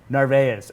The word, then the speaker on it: Narvaez: So I go, Ray, how the fuck do you pronounce your name? And he goes, Narvaez. And I was like, okay, it's Narvaez.